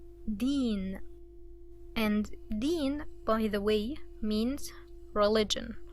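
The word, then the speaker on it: دين: English but Arabic and so let's try to pronounce it Dean Dean and din by the way means religion okay din means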